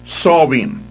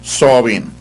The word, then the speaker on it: Samhain: The Celtic year ended on October 31, the eve of Samhain. Now actually you spell that S-A-M-H-A-I-N, but you pronounce it Samhain or something like that.